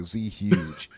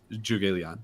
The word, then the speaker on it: Zhuge Liang: I've heard so many people say Z Huge.